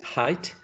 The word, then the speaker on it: height: far so good um the pronunciation of this one is height just like this one is high but this one ends in that sound right high height high